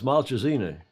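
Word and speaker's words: Malcesine: italian words so i i try to get them to say uh malchazine because that's how it should be pronounced isn't it maltazine no no it's maltressini um well i was with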